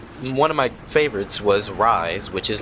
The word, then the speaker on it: Ryse: to admit and uh it's spelled r-y-s-e so it's not the traditional rise it's rise whatever they spelled it